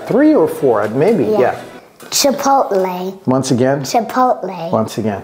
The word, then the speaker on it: Chipotle: is not obious okay chipot a stop tea we call it a stop a stop tea a stop tea like in the word important important or mountain mountain Cody what are